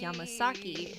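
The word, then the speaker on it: 山崎: It's a common topographic and habitual name occurring chiefly in eastern Japan. The alternate pronunciation Yamasaki is more common in western Japan.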